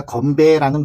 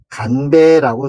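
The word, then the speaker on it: 乾杯: 그런데 이때 우리가 건배라는 말은 잘못 쓰는 말이고 간배라고 쓰셔야 됩니다. 왜냐면 우리가 알고 있는 일은 하늘이라는 뜻에는 건자인데 마르다라는 뜻에는 간이라고 읽거든요. 그래서 마르다, 말린다라는 뜻에 간으로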